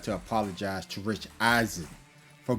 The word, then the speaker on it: Rich Eisen: Before we continue with this Audacity podcast, I would like to apologize to Rich Eisen for mispronouncing his name. I was calling him Rich Eisman. So his name is actually Rich Eisen.